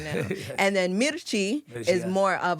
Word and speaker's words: Mirchi: Now, listening to your music, Mirachi. Did I Yeah, say yeah. it right? Yeah, Mirchi.